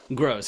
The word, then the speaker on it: Gross: Gross, exactly.